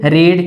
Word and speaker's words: read: यहाँ पे देखिए रीड की ये थर्ड फॉर्म है यानी पास्ट पार्टिसिपल फॉर्म है, भले ही इसका स्पेलिंग क्या है, सेम है, लेकिन इसको जब हम प्रोनाउंस करते हैं तो रीड नहीं बल्कि रेड प्रोनाउंस